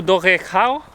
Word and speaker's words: Dolgellau: So we made it to Dolgellau. We were told that that's how you pronounce the city's name.